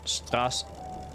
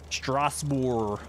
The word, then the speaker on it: Strasbourg: The OU is pronounced like oo in oof, and the G is silent. In Strasbourg?